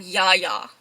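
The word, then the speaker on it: Yahya: This is, I've been calling him Yaya. I highly doubt that's how you spell it. I mean, that's how you pronounce it. I forgot how he spells it, but it's like Y-A-H-Y-A.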